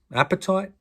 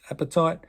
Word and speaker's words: apatite: talc gypsum calcite fluoride apatite no that wasn't a mispronunciation apatite feldspar quartz topaz corundum